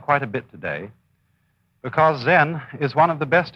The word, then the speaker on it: Zen: Zen, of course, is a Japanese word, and it's spelled Z-E-N. And that is the Japanese way of pronouncing the Chinese word Chan. And this, in turn, is the Chinese way of pronouncing an Indian Sanskrit word, jnana.